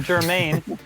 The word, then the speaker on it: Germain: Germain. Germain. By the way, Germain, I'm not saying your name wrong on purpose.